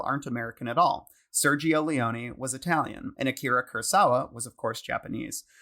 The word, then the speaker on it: Leone: I say Sergio Leone as well, but whenever I hear like a really famous director say it, they'll say Leone.